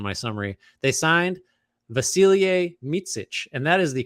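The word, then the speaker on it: Mićić: It's like Mitsic is the way it was phonetically pronounced, but I'm not. I'm gonna say Micic, like Micic. Yeah, right. Mitsich.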